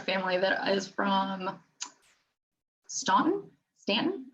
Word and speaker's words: Staunton: that is from Staunton Stan it's spelled Staunton but sense a sense - yeah we got